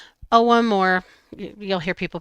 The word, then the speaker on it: Ogham: And it's about the OM. It's spelled Agum. O G H A M. It's pronounced ow or you'll hear people pronounce it a little